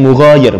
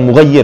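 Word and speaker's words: مغاير: Mughayir, enggak, itu ada alifnya itu. Enggak mungkin bisa tasydid. Mughayir, ya, bacanya mughayir, bukan mughayir ya, enggak ada tasydidnya, mughayir.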